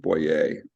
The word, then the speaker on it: Boyer: It's spelled Boyer, but he's French, so it's pronounced Boyer.